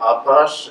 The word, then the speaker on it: apache: And the word apache is the French pronunciation of Apache, as Holly has pointed out.